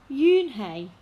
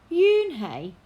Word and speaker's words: Unhei: turned to joey she nodded slowly yes it's pronounced june hey and it means grace mr kim added yoon hey joey said slowly and this time perfectly it